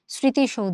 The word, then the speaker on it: স্মৃতিসৌধ: স্মৃতিশৌধ শব্দের প্রমিত উচ্চারণ হচ্ছে এটা। স্মৃতিসৌধ। এইযে মফলাটার জন্য আমরা একটা নাসিকের অবতারণা করে এবং তুমি যদি একটু উচ্চারণটা ভালো করে খেয়াল করো। দেখো সৌধ। তালবসা দিয়ে কিন্তু আমাদের কাজটা হচ্ছে। এবং এখানে ধ টা যেহেতু একটা ব্যঞ্জন বর্ণ আমাদের।